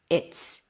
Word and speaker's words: it's: What happened here? The Z sound became an S because the T is voiceless. So it affected the Z sound of the is. So the Z became an S. It's it's it's it's awful.